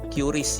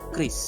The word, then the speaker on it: QRIS: respon hot Indonesian standar kalau lihat bacaannya dulu saya suka bilangnya curis ya tetapi Bank Indonesia sudah memberikan penjelasan membacanya adalah Kris dia diterbitkan oleh asosiasi